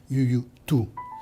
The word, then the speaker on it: Youyou Tu: Yu Tu. Alors, il faudrait prononcer un peu mieux à la chinoise, c'est Yu Tu.